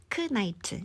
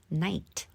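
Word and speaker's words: knight: 무금 하는 연습해 볼게요 크나이트 아니고 그냥 night night 밤이란 단어랑 발음이 똑같죠 그다음에 크나 아니고 그냥 나이프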